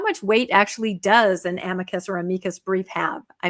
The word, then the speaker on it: amicus: is the Latin, but according to ChatGPT, it says the emphasis is on the first syllable and amicus.